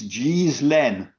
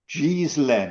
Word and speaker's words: Ghislaine: the correct way is Ghislaine. Ghislaine is the correct way to pronounce her very ancient name, as it is a name of very ancient origins in France.